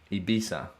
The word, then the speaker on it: Ibiza: think italians would say ibiza ibisa yeah thank you all right he beats now that makes me very happy now i can go there and be like my spanish friend told me that that's how you say it great light on these